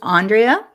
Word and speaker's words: Andrea: Yeah, I have a strange pronunciation. It's Andrea.